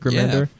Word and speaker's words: Remender: Is that you say his name, Remender? Rick Remender? Yeah, Rick Remender.